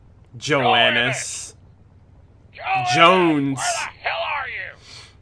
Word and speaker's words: Jones: Private Joannis. Joannis. Joannis. Jones. Where the hell are you? Sir, for the millionth time, my name is pronounced Jones.